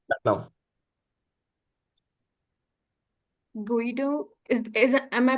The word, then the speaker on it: Guido: It's now Guido is is Am I pronouncing it right? Guido.